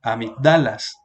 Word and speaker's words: amígdalas: linfáticos aquí en amígdalas habrían varias formas de pronunciar una serie aquí el asiento aquí sería amígdalas o si lo ponemos aquí sería amígdalas o si lo ponemos aquí sería amígdalas pero como tiene la tilde aquí no está indicando el acento